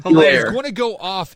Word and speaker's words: Hilaire: Clyde Edwards-O'Hare, or how you say his name, Hilaire.